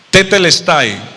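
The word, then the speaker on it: τετέλεσται: consumado es en el en el griego se pronuncia tetel Style digan todos conmigo o sea Jesús en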